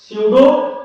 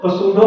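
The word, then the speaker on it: pseudo: स्यूडो पसूडो मत पढ़ लीजिएगा, पीस है ना, पी यहाँ पे साइलेंट है, पसूडो पसूडो कर रहे थे आप लोग, वाह बेटा वाह।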